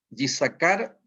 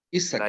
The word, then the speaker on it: Yisakar: Bienvenido, Yisakar. ¿Está bien pronunciado, Yisakar? Se pronuncia Isaacar. Isakar. La Y no se toma.